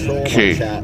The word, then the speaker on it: qué: Say it like K. K. Oh, not key, but K.